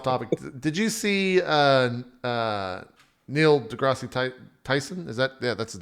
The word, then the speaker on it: deGrasse: No, but it's just DeGrasse. Like that's how he says it. DeGrasse. Gotcha. No, I like the way Fury pronounced it. DeGreasy.